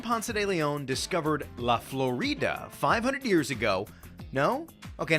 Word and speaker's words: Florida: Ponce de Leon, he would have pronounced it Florida, not Florida, because in Spanish, when a word ends in a vowel, you emphasize the vowel before that.